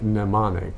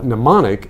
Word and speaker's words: mnemonic: Yeah, very similar, although the M is pronounced in anemone, but it sounds like mnemonic.